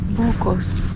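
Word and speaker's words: buko: Bucos. Buco, yeah. That's how you say it in the Filipino language.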